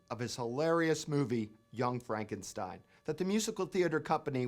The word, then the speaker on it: Frankenstein: Frankenstein it's been a evensong that your grandfather's monster here tonight is that true dr. Frankenstein steam my name it's pronounced frank enstein yes yes the whole